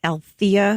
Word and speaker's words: Althea: correct you really quickly my name is pronounced Althea with the emphasis on the second syllable I hope that's okay